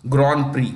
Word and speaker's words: Grand Prix: I watch almost every Grand Prix. Grand Prix, it's French. Grand Prix, P-R-I. The last letters are silent.